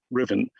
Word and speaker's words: Ruthven: It's written Ruthven and pronounced Riven.